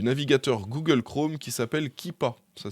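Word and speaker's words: Keepa: petite extension du navigateur Google Chrome qui s'appelle kipa ça s'écrit k e e P a vous ajoutez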